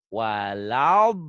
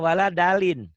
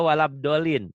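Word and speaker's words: ولا الضالين: Ghairil maghdubi alaihim waladdallin. Kita tidak boleh sombong, tapi boleh buktikan. Kadang-kadang yang pengurus masjid yang yang sorbannya tebel, kemudian udah berjenggot dan segala, kadang-kadang bacanya waladalin. Ada juga walabdolin.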